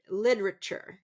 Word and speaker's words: literature: So there's a little bit less stress. Now for myself, I er on the side of being understood. So I I tend to pronounce more of that word literature. Literature. Literature. But that second syllable really is reduced.